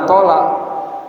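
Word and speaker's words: أطال: Jadi hadis Mu'adz radhiyallahu anhu bahwa beliau tuh mengimamin satu kaum, fa'atola alaihim jiddan, atola atau bacanya atola, dipanjangin, alaihim atas makmumnya, jiddan, maksudnya panjang sekali.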